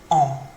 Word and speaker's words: ans: So j'ai, whatever it might be, on is how you pronounce it. I know there's an S on the end, but we don't pronounce it.